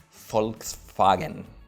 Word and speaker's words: Volkswagen: vem por exemplo Volkswagen quem que vai falar essa palavra em alemão original que é assim Fox Fagner então a gente aportuguesou